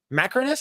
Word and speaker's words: Macrinus: The character of Washington plays, Macrinus, that's how you say it, was a real person hailing from Northern Africa.